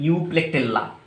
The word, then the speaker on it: Euplectella: यूप्लेक्टेल्ला। क्या होता है बच्चों? EUPLECTELLA, यूप्लेक्टेल्ला, right. इस तरह से आपको प्रोनाउंस करना है।